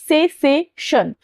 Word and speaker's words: cessation: सेसेशन, माफ कीजिएगा, सेसेशन, ठीक है, SACESSATION, सेसेशन प्रोनाउंस करेंगे, और ये नाउन है